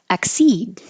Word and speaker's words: accede: Accede. It's interesting, this came up a lot this year. Accede. There's a little mark by the K and the D because you don't have to pronounce the K either.